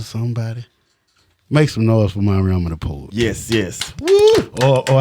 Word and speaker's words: Mariama: But typically, Mariama has so many syllables that people fuck it up.